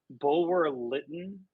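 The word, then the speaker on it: Bulwer-Lytton: Bulwer Lytton.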